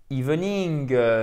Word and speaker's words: evening: Si vous faites le i long, comme il se doit, ça fait evening, evening.